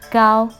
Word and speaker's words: 糕: Translated to English, Nian Gao literally means year cake, as Gao cake has same pronunciation as Gao higher.